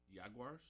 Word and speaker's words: Jaguars: Jaguars? Jaguars, yeah, that's how you pronounce it.